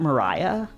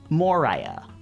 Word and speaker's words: Moria: It's not Moria, right? Isn't it Mariah? I refuse to pronounce as Mariah. Mariah. Moriah. It's Moria. It's not Mariah. Who said Mariah? I forget who said that. I'm not saying it. I'm not saying Mariah. It's It's Moria.